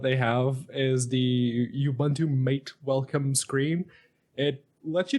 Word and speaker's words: MATE: mate or mate or mate as it's actually pronounced because in Spanish uh it's also it